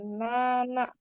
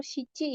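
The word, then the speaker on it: 七: Nana. Nana atau sici ya.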